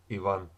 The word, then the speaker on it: Ivan: Second stress syllable. Ivan.